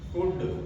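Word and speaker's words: could: इसी तरह से शुड वुड कुड इन सब में एल के तुरंत बाद क्या आ रहा है? डी आ रहा है। तो इसमें एल हमारा साइलेंट रहेगा। इसी तरह से काम पाम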